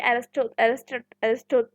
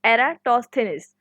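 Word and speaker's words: Eratosthenes: तो अब स्टूडेंट्स जैसे कि एरिस्टो sorry for miss pronunciation, it इज एराटोस्थेनिस।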